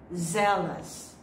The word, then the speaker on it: zealous: Yes, it's zealous. Zealous. The base form of this is zeal. But if you add O-U-S or O-T, it becomes zealous or zealot.